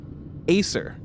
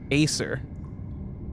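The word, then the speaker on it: Æsir: Next up, Acer. That is spelled A E S I R. Aer.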